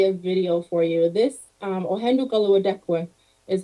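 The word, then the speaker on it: Ohén:ton Karihwatéhkwen: This Ohendukaluadekwe is how you say this word.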